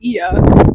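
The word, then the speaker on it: Oia: a van out to IIA which is spelled o i a but the O is silent yes yes um it's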